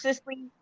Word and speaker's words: Cicely: Cicely. Yes. Am I All right.